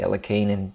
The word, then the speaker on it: Alekhine: a Russian name there's various ways to pronounce it but at I recently ran into a fellow whose grand father was a Grandmaster chess called Buch and he played le keenan and tells me that that's how it's pronounced so I'm not going